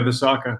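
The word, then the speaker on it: Visakha: I don't know how to pronounce the name. Is it Visaka? Yeah, that was pretty good. Yeah, Visaka.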